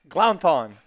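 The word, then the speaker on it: Glounthaune: How do you pronounce the 8's name? Glounthon. Glounthon. I like the 8 Glounthon as well.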